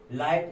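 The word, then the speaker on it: light: लाइट, यहाँ पर जी एच का नहीं है, लाइट, ई का आया है इट।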